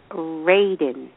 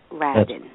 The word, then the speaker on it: Radin: Thank you so much, and sorry, I mispronounced your name, so it is Radin, not Radin.